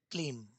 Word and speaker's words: क्लीम: और वो जो मंत्र है वह आपके सामने अब स्क्रीन पर है जिसका नाम है क्लीम। ठीक है? उच्चारण सही होना चाहिए। मंत्र है क्लेम।